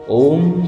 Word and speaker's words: ওম: আর এই ওয়ের উচ্চারণ পেট থেকে, অয়ের উচ্চারণ গলা থেকে, আর ময়ের উচ্চারণ মাথা থেকে হবে।